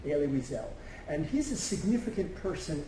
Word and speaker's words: Elie Wiesel: material about a liras l at I you pronounce his name elie wiesel and he's a significant person in the film